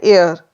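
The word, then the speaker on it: heir: पहले हम एन लगाएंगे एन एयर यहां पर एच साइलेंट है और साउंड किससे आ रही है ए से जो कि हिंदी का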